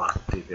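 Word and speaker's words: Atticae: Questo lo dice Aulo Gellio nelle Noctes Attice, o Attiche se dovete pronunciarlo alla maniera classica, un trattatello sul calendario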